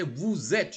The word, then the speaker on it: vous êtes: you have to say vous êtes, you have to join, it is vous êtes, always it is vous êtes.